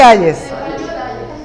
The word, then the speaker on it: Hayes: La octava, Steven Ayes, yo no sé si se pronuncia así, Steven, sí, pero Ayes, ¿cómo es? Ayes o... Ayes, nosotros vamos a decir Ayes.